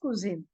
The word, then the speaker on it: Cousin: u s i n but pronunciation is little different than English it is kin like for recipes we call in English no kuin it is like that so the pronunciation is kuin so cousin is cuin